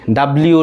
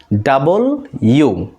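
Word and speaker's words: W: বের হয়ে যাবে ভি এটাকে আমরা বিভিন্নভাবে উচ্চারণ করছি ডবলিউ ডবলিউ বাট এটা আজকে থেকে এইভাবে উচ্চারণ করব না এটাকে বলব ডাবল ইউ আমার সাথে সাথে বলার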